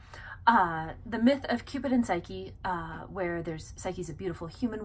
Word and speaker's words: Psyche: Well, he takes the ancient myth of Cupid and Psyche, and I say Psyche, it's probably technically supposed to be pronounced Suke because that's how you pronounce the Greek word for soul, which is where her name comes from.